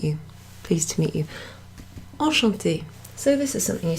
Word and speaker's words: enchantée: You'll notice there's an extra E there, so that's not something that makes a difference to the pronunciation, but it is something that you'll see in written forms of certain words.